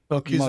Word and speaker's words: Melchizedek: So first of all, um, you talked about sacred geometry and also Melchizedek. Is that how you pronounce it? Melchizedek Melchizedek priesthood, yeah.